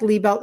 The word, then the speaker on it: Liebelt: It actually sounds like Liebelt. It's spelled lie belt, like you lie down and put a belt.